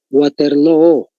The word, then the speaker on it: Waterloo: simplemente es doble o waterloo se pronuncia waterlo pero es doble o al final dónde se va a